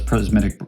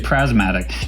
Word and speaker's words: prismatic: So that's prismatic. How do you say that? Prismatic. There you go, prismatic. I kept wanting to say prasmatic.